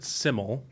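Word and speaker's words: Syml: so real quick uh they pronounce it simol okay so is simil Sim it's Welsh for simple cool okay and the lead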